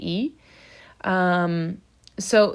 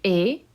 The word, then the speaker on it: es: Same thing for tu es, the S is silent.